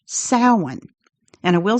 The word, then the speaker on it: Samhain: was a festival called Samhain, spelled Samhain, but pronounced Samhain. And I will say, my entire life, I always pronounced it Samhain, the way it looks.